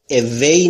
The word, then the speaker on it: away: تلفظ W رو دوستان توجه بفرمایید. Away نمیگم. نیش دندونهای بالا لب پایین رو نمیگزه. این تلفظ Vه. در تلفظ W لب هاتون باید تقریبا حالت بوسه باشه.